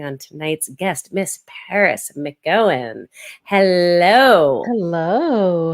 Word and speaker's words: McGowan: Did I mangle your last name? I asked how to pronounce it, and then I think I messed it up. McGowan. McGowan. I said it right the first time, and then I messed it up while we were recording.